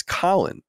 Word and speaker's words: Colin: ruined everything for me because he said his name colon so everyone started saying My Name colon even not as an insult but being and I'm like no it's Colin but what if people